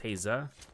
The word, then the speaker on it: Haza: Okay, so like you got hey like hey-ya with like, you know, Outcast. Instead of hey-ya, it's Haza.